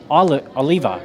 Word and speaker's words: Oliva: He said, tell Dave it's Oliva, Sergio Oliva.